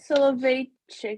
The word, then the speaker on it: Soloveitchik: Rav Soloveitchik, is that how you pronounce it?